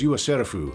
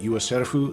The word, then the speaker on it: Yua Serufu: And if at first you miss the fact that Yua Serufu sounds an awful lot like the Japanese pronunciation of yourself, oh, don't worry, the show will remind you, repeatedly.